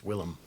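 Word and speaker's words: Willem: I know you pronounced his name. It's William. Will I am? It's Willm.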